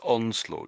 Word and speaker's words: onslaught: Um, so at the end is sort of is sort of a t more of a t sound on the end.